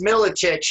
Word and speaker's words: Miletich: It's Miletich. It's a very difficult name to pronounce, but yeah, man, thank you.